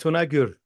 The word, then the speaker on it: Tunagur: Stephen Mary now isami you pronounced your last name a little bit different than I just did say it the way you say it actually you got it perfect tunur yeah but the last